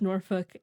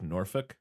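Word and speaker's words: Norfolk: not heard of either I can confirm you pronounced norfol as it is said I live an hour down the road it's a really beautiful place as it is said so like norfol yeah is that where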